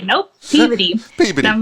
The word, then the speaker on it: Peabody: They asked me, how do you say this word? And I said Peabody. And they're like, that's not how you say it.